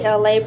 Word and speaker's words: Elay: Hey, this is me, Elay, pronounced like LA, like the city.